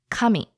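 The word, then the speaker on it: 神: romaji kam I but these two words are actually pronounced a little differently the intonation is a bit different now the word for God is pronounced coming and the word for paper is pronounced coming so just emphasis on you know the beginning or at the end okay so God is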